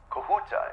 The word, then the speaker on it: Kahuta: the kahuta plant okay kahuta is that the correct pronunciation am I saying that right yes okay great pz had